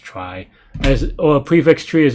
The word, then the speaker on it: trie: A trie, pronounced trie, or a prefix tree is a tree data structure used to efficiently store and retrieve keys in a data set of strings.